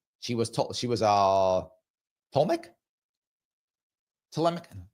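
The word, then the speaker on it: Ptolemaic: she was uh toic tmic tmic is how you say that the Greek family there tmic I think is that is that right I think it's tmic um she was Greek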